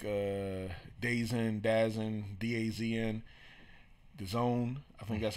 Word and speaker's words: DAZN: a void, and it looks like DAZN, DAZN, the Zone, I think that's how it's pronounced.